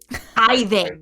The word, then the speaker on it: tithing: Tithing.